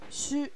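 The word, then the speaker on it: しゅ: Là, il faut faire attention, il y a une petite exception. C'est bien shi plus un petit ya, petit yu, petit yo. Mais il n'y aura pas de y prononcé. Ça va nous faire sha, shu, sho. Et pas shia, shu ou shio.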